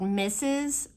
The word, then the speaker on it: Mrs: kids read the word misses Mrs RS they don't pronounce it misses they just say everything miss everything is Miss regardless of how it's spelled and so we did